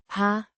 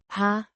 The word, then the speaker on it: har: at have, meaning have or do have, pronounced Har. the, H. is generally aspirated, so it would not sound the way an English speaker would pronounce, Har. but rather have an aspirated H. sound before the A.